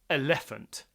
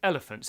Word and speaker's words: elephant: I might say elephant. I don't say elephant. I say elephant, so the stress is on the first syllable.